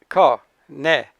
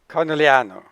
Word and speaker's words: Conegliano: And the other unpronounceable is Conegliano. Conegliano.